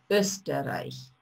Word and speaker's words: Österreich: «Er kommt aus Österreich». Остановимся здесь. Вот эта буковка «О» умляут произносится как «Ö», «Ö», «Österreich».